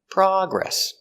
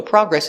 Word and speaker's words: progress: if it's a verb so remember the noun the stress is on the first syllable progress progress so progress is a noun they made a lot of progress progress is not countable i don't say one a progress or two progresses it's not countable they made a lot of progress or they made a little progress and the verb is progress with the stress on the second syllable progress you can talk